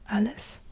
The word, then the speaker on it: Aleph: Aleph is a glottal stop or an A or sometimes also an I sound. Aleph, Aleph.